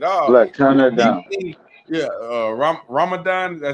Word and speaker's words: Ramadan: Ramadan, did I say it right?